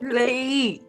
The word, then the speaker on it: Leif: Leaf, and the first one is spelled Leaf, and the second one is spelled Leif.